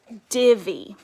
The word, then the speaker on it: divvy: Now, this is also a two-syllable word, and in two-syllable words, the Y usually says E in words like baby, mommy, daddy. All of those words end with Y, and the Y says E in those two-syllable words. So this word is divvy.